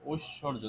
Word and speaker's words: ঐশ্বর্য: থাকলে উ রসই আর এখানে দেখো তো স টা দুইবার উচ্চারিত হচ্ছে তাই না উৎস ঐশ্বর্য তাহলে স টা দুইবার